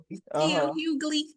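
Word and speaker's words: D. L. Hughley: DL Hugley.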